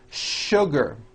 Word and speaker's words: sugar: in English that are written with the letter S but are pronounced with the SH sound words like sugar and sure and to